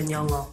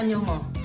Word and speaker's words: Nyong'o: En American, Lupita Nyong'o. Lupita Nyong'o. Lupita Nyong'o.